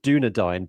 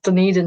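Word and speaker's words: Dunedin: I want to pronounce it Dunadine, but it's not it's not Duna. Is that how you pronounce it? How do you pronounce it? Some people do pronounce it dun. It's Dunian.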